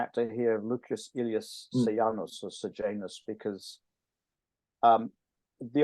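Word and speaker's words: Sejanus: uh Tyber trusted s sanus if I use the English pronunciation sanos probably is more correct in Latin um and for 15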